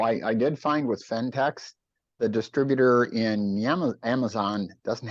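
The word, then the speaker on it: Phentex: eBay and you type fentex and the name is spelled pH N eex fentex Craft and slipper yarn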